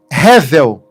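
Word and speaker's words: הֶבֶל: Abel em hebraico se eh se pronuncia revel.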